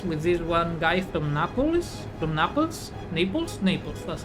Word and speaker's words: Naples: Because I went to class with this one guy from Naples, that's how it's pronounced in English, from Napoli.